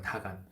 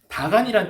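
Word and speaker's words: דגון: 근데이 다곤이라는 말이 뭐냐면 히브리어로 다간이라고 읽어요. 다간. 밑에이 이렇게 이게 히브리어로 다간이라고 되어 있는데 다간이란 뜻은 공물의 신이란 뜻이에요.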